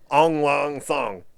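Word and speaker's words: Aung La Nsang: Yeah, it's like Aung, Ong, Law, L-A. Second word is first word is Ong. Second word is Law, L-A. Third word is Nsang, N-S-A-N-G. And I don't know if that N is silent.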